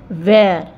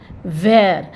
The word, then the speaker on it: where: ठीक है ना बट प्रोनाउंस जो हम करेंगे क्या करेंगे सेम इसका क्या होगा वेर वेर but spelling different है तो वेर मींस क्या